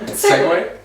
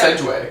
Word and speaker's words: segue: I think I pronounced it wrong anyway, so it's Yeah. fine. What? Segway? I said Yeah. Sedgway.